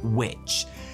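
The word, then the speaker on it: wīc: But in fact, the which suffix in English place names comes from the Old English word WIC, which was confusingly pronounced which, and it meant trading centre or harbour.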